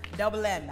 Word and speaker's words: DVBLM: Okay, so DVBLM is still pronounced Double M.